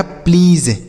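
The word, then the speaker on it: please: को आधा बनाते हैं तो यानी पी से आधा प लिखेंगे एल से लिखेंगे आपका ल अब इ ए का उच्चारण होता है बड़ी ई की मात्रा मात्रा और एस से लिखेंगे आपका ज और किसी भी शब्द के लास्ट में अगर इ रहेगा तो उसे हम नहीं पढ़ते हैं। तो यह लिखा गया है प्लीज।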